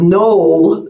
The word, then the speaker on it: Noel: So I'm going to say Noel, even though in Missouri here they say Noel is Knoll, the town of Knoll.